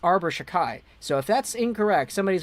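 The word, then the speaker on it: Arber Xhekaj: to look that up how in the heck do you pronounce arbor shakai but apparently it's arbor shakai so if that's incorrect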